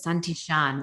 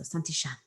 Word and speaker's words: Santillan: husband's from Argentina, and it's like so it's a Spanish pronunciation, but they say their L's like a sh. So Santillan.